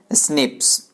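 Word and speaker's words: SNP: tight polymorphism यानि एसएनपीएस उसको pronouns किया जाता है कैसे स्नेप ओके खोला किया है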